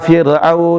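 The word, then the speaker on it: فرعون: Teman-teman bacanya banyak wa jaa fir'au, fir'au, bukan fir. Wa jaa fir'aun wa man qablahu wal mu'tafikatu bil khati'ah.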